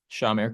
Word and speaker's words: Shamir: what is your name your first name sir Shamir Ki spell it for me your first name s h